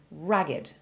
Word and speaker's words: ragged: things further remember that this word is different in meaning and pronunciation from the identical looking ragged which is an adjective unusually having its e sounded as in sacred and naked and meaning dressed in